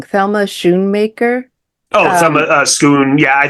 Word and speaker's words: Schoonmaker: Yeah, and it does make me think, I always say her name wrong. Thelma Schoonmaker. Oh, Thelma Schoon. Yeah, I think Schoon or Schoonmaker. Yeah, Scorsese's editor, Schoonmaker.